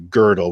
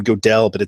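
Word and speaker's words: Gödel: which by the way I always calling godell actually girdle and you know I was pronouncing the I pronounce his name wrong forever and nobody ever corrected me and so now I've got a habit of calling him godell instead of girdle but in our eyes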